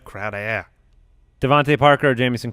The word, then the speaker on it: Crowder: It's pronounced Crowder. Devontae Parker or Jamison Crowder?